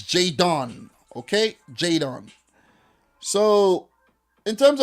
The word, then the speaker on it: Jadon: with jay don sancho you gotta take your time and say his name not jayden the boy name is jay don okay jadon so in